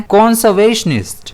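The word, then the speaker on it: conservationist: कंजर्वेशनिस्ट जिसमें stress जो है वह वी पर रहता है।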